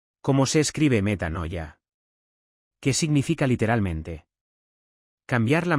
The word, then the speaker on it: metanoia: viene del griego y es la palabra meta con m de mamá como si fuera meta meta noya con n de nanc noya Cómo se escribe metanoia Qué significa literalmente cambiar